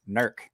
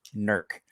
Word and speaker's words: Newark: tell that i'm from this area because i pronounce it correctly nerc ohio see i don't even know where that